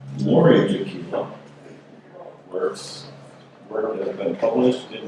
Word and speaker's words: Jakiela: Jakiela rhymes with tequila.